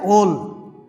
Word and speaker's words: ওল: যেমন এটাকে আমরা কি বলবো? ওল, কিন্তু অনেকেই বলে উল, আসলে উল না, এটা হচ্ছে ওল।